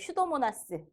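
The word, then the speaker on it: Pseudomonas: 앞에 피 써 있는 그 피는 묵음이에요. 그래서 슈도모나스.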